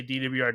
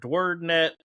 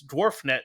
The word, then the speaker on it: DWRD: And I was like, I always just say DWRD because it's my initials, but I've heard dwaret. You know, there's a guy the other day in Arkansas. He's like, I it reads dwarf net to me, you know,